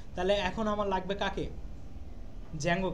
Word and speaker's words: Django: ডি জ্যাঙ্গো ঠিক আছে জ্যাঙ্গো উচ্চারণটা ডি টা উচ্চারণ হয় না ও আচ্ছা জ্যাঙ্গো বানান